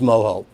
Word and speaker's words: mojo: being in Florida was moho I don't know something about the way it repeated itself in those sounds moho plus it was spelled Ojo or is spelled Ojo which of course in Chicago and blues that's Mojo and I was uh